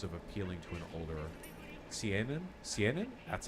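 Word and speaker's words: Seinen: here in terms of appealing to an older Cen Cen that's how it's pronounced not sign up Overlord is pretty big Overlord is degenerate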